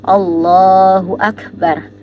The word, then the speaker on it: Allahu akbar: yang benar adalah dibaca a-nya itu enggak boleh panjang pada kalimat Allah dan Akbar bnya enggak boleh panjang ketika baca di bacaan Akbar dan enggak boleh juga menipiskan bacaan Allah pada Allahu akbar jadi bacanya yang benar